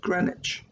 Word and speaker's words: Greenwich: It's spelled Greenwich, but pronounced Greenwich.